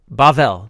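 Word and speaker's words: בבל: Well, it's spelled with the Hebrew letter B or bait, but in certain pronunciation forms, you say it like a v instead of a b.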